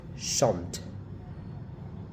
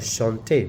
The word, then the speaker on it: chante: So if it's like chante, you stop there, the T where the T is. Chante. Not chante, no. Don't pronounce that E there.